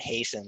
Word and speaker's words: hasten: in that case ten I did not hear the T at all so they don't pronounce the T it's the way you